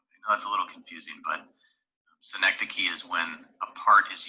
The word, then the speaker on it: synecdoche: so that's apostrophe synecdoche uh not synecdoche or however i've heard this pronounced a lot of different ways but synecdoche is the correct pronunciation that's a little tough